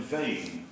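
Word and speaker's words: Mheadhoin: climbing as a boy is Ben Vein in the Cairngorms, and Vein is, of course, as you know, spelled M-H-E-A-D-H-O-I-N.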